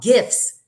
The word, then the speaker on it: GIF: A voice call is second, and even just a gift, a GIF is how you say it, not a gift.